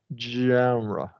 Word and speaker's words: genre: alone gen yeah because because it's so hard to start at that J right but you have to genre it's not a j yeah JRE yeah yeah yeah you'll